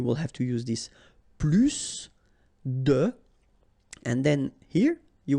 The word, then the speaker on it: plus: French language with this plus. Okay, because in some cases you will have to pronounce the final S, and in other cases you won't.